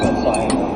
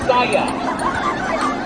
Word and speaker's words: Bisaya: In English or your language of Bisaya, whatever.